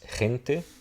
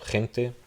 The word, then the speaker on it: gente: In this case, and I'm not really going to talk about J's, but they would be pronounced like a J. In Spanish, a Spanish J.